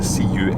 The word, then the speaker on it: Culzean: an interesting name because Culzean is written C-U-L-Z-E-A-N, but it's pronounced Culzean. Very often Scottish place names are pronounced entirely differently from what you would expect.